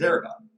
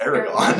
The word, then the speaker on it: Aragorn: And the main character is played by the guy that plays Aragon, Viggo Mortensen.